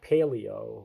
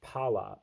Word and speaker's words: palaeography: It's not paleo, it's pala, P-A-L-A, eography, which apparently is studying ancient writing, like handwriting, calligraphy.